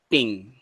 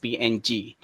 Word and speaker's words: PNG: interface format and actually this png is originally pronounced as ping but it is mentioned as png portable network graphics attituding